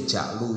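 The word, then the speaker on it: جعل: Terus kalau bacanya bukan ju'lu ya ja'lu sama saja ya.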